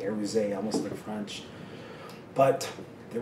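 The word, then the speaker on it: Aruze: z but everyone says aruse but it's not they pronounce the E aruse almost in French but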